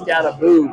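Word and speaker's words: Skattebo: But does Cam pronounce his last name Scatabo? I think it's almost Scataboo. Scattaboo? Yeah. I kind of thought that. It's Scataboo, but I'll be the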